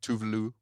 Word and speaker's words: Tove Lo: I love Tove Lo. Tuvelu. How they say it.